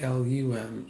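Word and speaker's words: लं: So the first chakra, the mantra it's spelled L-A-M, but sounds like L-U-M, lum. L as in Larry, U-M.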